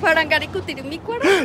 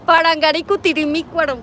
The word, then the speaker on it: Parangaricutirimícuaro: ¿Cómo se pronuncia esta palabra de aquí? Parangaricutirimícuaro. Dígalo más fuerte, a ver. Parangaricutirimícuaro.